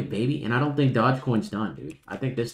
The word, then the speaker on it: Dogecoin: Here's Dogecoin, D-O-G-E, Dogecoin. Sorry, not Dodge, it's Dogecoin.